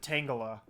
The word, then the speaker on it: Tangela: i don't know but i always pronounce it tangela like it's tangled up but i do know